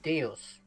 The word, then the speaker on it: Deus: things where it's like, having learned Latin in Germany, I would pronounce that Homo Deus. Deus. Yeah, that you know what? Because yeah. I was taught that in Latin, there's no, it doesn't get turned into a diphthong.